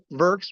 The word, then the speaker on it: herx: Ving what's your term for vers which Ryme rhymes with hers which stands for the